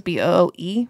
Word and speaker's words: Booe: Boo is B-O-O-E. There's a silent E on the end.